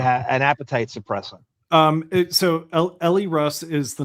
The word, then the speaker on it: Elle: Like Elle McPherson.